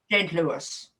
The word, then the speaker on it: St. Louis: And is it St. Louis or St. Louis? St. Louis. St. Louis. Louis, I suppose, would be grammatically correct if you wanted to use the French connection.